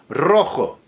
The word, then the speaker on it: rojo: When an R is initial in a word important in a word rojo, ratta, reto, retita, r and so on so forth. No exceptions. It will be rolled and it will be strongly rolled.